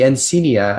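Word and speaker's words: encaenia: And the encenia at the university was a very lively event.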